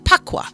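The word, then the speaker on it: Bagua: let's get into the pakwa map now now the funu pakwa map it says spelled b with a b b as in boy a GU UA but it's pronounced with a p paqua so it's pronounced p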